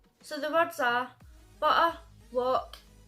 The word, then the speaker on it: Loch: So the words are butter, loch. I realise that this is supposed to be pronounced Loch, but I say it like Loch, and everybody shouts at me for it.